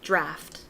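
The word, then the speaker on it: draught: uh uh it is draft it is draft France draft that's what I thought as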